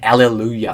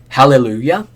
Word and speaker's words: Hallelujah: to the song Choice sorry I keep on pronouncing it Alleluia for some reason Hallelujah obviously it's a celebration it's Jubilation it's both